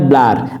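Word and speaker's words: Bloor: করে থাকে 1943 সালে জার্মানি বিজ্ঞানী এটা আসলে উচ্চারণ হয় ব্লার বি এল ডাবল ও আর ব্লার সর্বপ্রথম লিপিড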